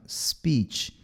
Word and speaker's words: speech: consoante, esse S chama S impuro, tá? Ele é bem suavezinho, ó. Speech. Não é speech, e não speech. É um Szinho, ó. Speech.